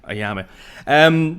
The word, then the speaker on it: Ayamé: On today's Insider podcast, we are talking to Conor Maloney, who directed the proof of concept trailer Ayamé. Am I pronouncing that right? Perfect. Ayamé.